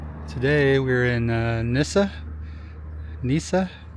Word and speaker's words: Nyssa: Nyssa. I don't know if you know how to pronounce that. N Y S S A Nyssa, Oregon. So, right here, we're staying in Oregon.